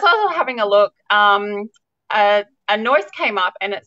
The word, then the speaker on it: Anois: And as I was having a look, Anois came up and it said, "How do you pronounce Anois?" And I thought, "Oh, what's this?" And I clicked on it, and it says it's Anish.